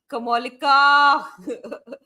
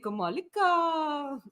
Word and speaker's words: Kamalika: Um, then we have oh, Kamolika. Kamolika, um, who I think guess is Donna Cullen, hopefully. Um, so she's saying Kamalika. That's how you say it.